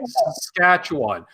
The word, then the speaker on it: Saskatchewan: is loose from saskatchewan that's how you say it saskatchewan believe it or not it's just like it's spelled you just sound it out saskatchewan i can't delay